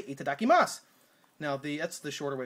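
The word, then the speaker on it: いただきます: It's itadakimasu, which, you know, there again, a lot of Japanese people don't pronounce the vowels at the end of things that end with S and a vowel, but, you know, if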